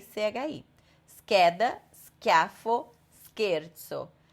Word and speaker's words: scheda: Agora, quando tiver um H na frente do C, aí é aquela regra da sílaba CHE e CHI. Então, aqui é só no caso de CHE e CHI. Scheda, schiaffo, scherzo.